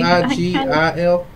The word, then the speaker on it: sigil: instructions, herb blend, and I'm probably going to pronounce this wrong, but sigil stone? Sigil stone? Sigil. Sigil. Hey, S-I-G-I-L?